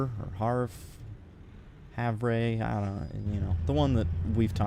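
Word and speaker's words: Havre: have no idea I'm pretty sure when I when I looked it up it said Haver but that seems I don't know that seems weird for it to be pronounced like that you know but whatever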